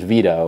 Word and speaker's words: Vito: Max basically slanders Vito, which, you know, I gotta be honest, is kind of fair because Vito has said some stupid things, and his name also rhymes with pedo, which makes it really easy.